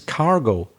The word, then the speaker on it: cargo: Notice in English, I am saying it right. I haven't made a mistake. It's cargo. I know the Spanish word is carga. Very strange. I don't know how that happened. So la carga in English is the cargo. We end it with O, cargo flight.